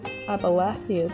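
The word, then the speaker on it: Abalathia's: read that a lot i thought it was pronounced about you about their spine but it was about appalachia's spine abalasius spawn refugees from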